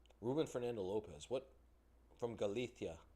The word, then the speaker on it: Galicia: From Galicia. Galicia. Y'all know how the Spaniards pronounce their S's and C's? They just don't say them. They say them like a th.